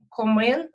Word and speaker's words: комин: В Чернігівській області теж говорять комин з наголосом на О, комен, на Ага.